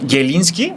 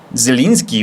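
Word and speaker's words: Zieliński: Los apellidos de, por ejemplo, eh, Yelinski, no es Yelinski, güey, es Zelinski.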